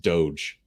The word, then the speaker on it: Doge: warnings what was it bitcoin or was it dodge coin because i saw an elon musk tweet about dodge coin which is another altcoin it's pronounced doge is it doge yes um and don't don't put your money